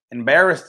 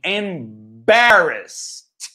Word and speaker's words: embarrassed: But the most important thing here is the pronunciation. Embarrassed. Embarrassed. Nada de embarrassed. Ok? Embarrassed. Bota um acento no primeiro A aqui, ó.